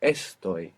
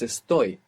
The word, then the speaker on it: estoy: we have is that this verb is the only verb in the entire Spanish language that doesn't have the accent on the penultimate syllable in the present tense so it's not esto it's esto the accents on the ending this hasn't happened until